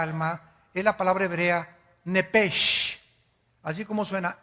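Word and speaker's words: נפש: Biblia esa palabra alma es la palabra hebrea nepes así como suena n e p e s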